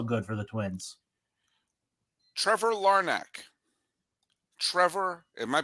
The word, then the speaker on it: Larnach: Trevor Larnach. Trevor, am I pronouncing that? This is the first time this is historic. I've never said this player's name out loud before. Did I say Larnach. it right? Larnach.